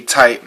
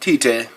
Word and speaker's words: Tite: Noriaki, aka Tight, not Tite, it's supposed to be pronounced Tight.